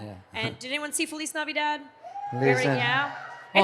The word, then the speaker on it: Feliz Navidad: No, We would- Navidad, like a dad. Feliz 'Cause Navidad the is dad's the title of our capitalized. movie. No, I get so many people that are like, you're saying it wrong. I'm like, no, but the dad part, That's right, that's right.